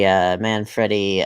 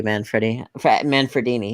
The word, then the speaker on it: Manfredini: But I do think the music got away from the Psycho connection the more that Harry Manfredi, if that's the correct pronunciation, Harry Manfredini, excuse me.